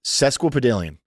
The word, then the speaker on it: sesquipedalian: Well, I'm sesquipedalian.